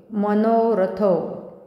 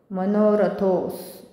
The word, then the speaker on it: मनोरथो: अस गच्छन अस होईल मनोरथो मनोरथो इथे एस सारखा आहे तर थोड दीर्घ करायचं त्या मनोरथो स्मकम स्मकम रामक पात